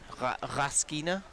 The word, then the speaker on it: Raskina: The Raskina surname has a stress on the first vowel. Okay, I will try and put some stress on the first vowel. I'm not sure what stress they mean. Raskina?